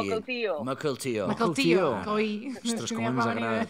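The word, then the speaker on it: Mukilteo: Doncs tenim gent de Rubí, de Barcelona, de Vancouver i de Makeltio. On és això de Makeltio? Seattle. De fet, Com? hi ha la Marina. La Marina que ho pronuncia. Mokeltio.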